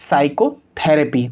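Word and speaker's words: psychotherapy: concept यह कहता है की एस से पहले जब ये पी को लिखेंगे तो पी साइलेंट होगा तो हम इसको क्यों पढ़ेंगे साइकोलॉजी साइकैटरिस्ट और साइको थेरेपी तो आप इन जब मैंने सभी शब्द को पढ़ा तो आप ध्यान से सुना होगा की इन सभी शब्द के अंदर पीस साइलेंट था हमने पी का साउंड प्रोड्यूस नहीं किया तो चलिए इस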